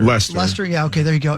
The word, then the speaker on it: Leicester: I forget how you say it, but It's like Lester. Leicester.